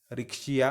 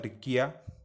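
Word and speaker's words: Riccia: आता तुम्हाला इमेज दिसतात बघा, रिक्शिया किंवा रिकिया, व्यवस्थित लक्षात ठेवा. काही काही वेळेला असं सुद्धा स्पेलिंग असते त्याचं, त्यामुळं कन्फ्यूज होऊ नका. रिक्शिया असेल किंवा रिकिया असेल.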